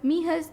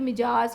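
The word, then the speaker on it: Mijas: दराज गाँव में, कॉल्ड मीहस, जिसका नाम मीहस था. अगर हम इंग्लिश में प्रोनाउंस करें तो मिजाज या मिजस आप इसे प्रोनाउंस करेंगे, बट in Spanish J pronounce as एच, तो ये मीहस.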